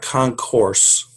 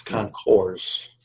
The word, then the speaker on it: concours: For the record, that's spelled CONCOURS. There's no E at the end. It's not concourse. It's concourse. Correct. It's a French word.